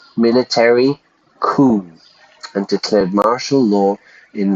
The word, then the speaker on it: coup: I don't know how to spell that, but we just pronounce it coup, like C-O-O. We don't pronounce the P, the French pronunciation, a coup.